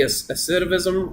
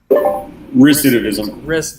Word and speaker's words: recidivism: it's like what you were saying about the aciditism rape is that how you say it recidivism okay oh my gosh i'm not gonna say